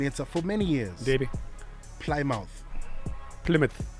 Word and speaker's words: Plymouth: who said to me uh no mo it's Plymouth Plymouth yeah has been a voiceover for a minute but your pronunciation near the the English some bister how